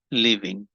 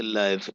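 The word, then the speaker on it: live: में रखना है कि ये वर्ब के तौर पर जब इसको पढ़ते हैं तो लिव पढ़ते हैं एडजेक्टिव के तौर पर सेम स्पेलिंग है लेकिन उसे लाइव पढ़ते हैं फिर लोड इसका मतलब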